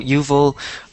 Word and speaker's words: Yuval: Okay, so Yuval, can you It's just... Yuval, actually, pronounced. Sorry. Americans always have a problem with my name. Yuval, okay. It's pronounced like that.